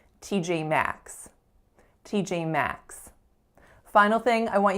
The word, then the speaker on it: T.J. Maxx: the tense F sound t.j.maxx t.j.maxx final thing i want you guys to notice for t.j.maxx is which of those syllables is a strongest it is the final one max t.j.maxx so that is all